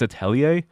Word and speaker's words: Atelier: Like if we're going based on like the original French pronunciation, it's Atelier, which I always say that, but it confuses people when I say atellier, so I just say atellier.